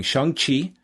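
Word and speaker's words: Shang-Chi: on tuesday him and wh will be reviewing shang qi yeah right you got the proper pronunciation that is correct i look forward to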